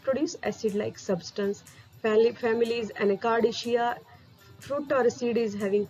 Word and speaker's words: Anacardiaceae: Again, I will pronounce Anacardiaceae. Family is Anacardiaceae.